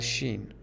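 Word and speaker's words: شین: like s in English next one is shin the sound is sh in English but we call it Shen next one again is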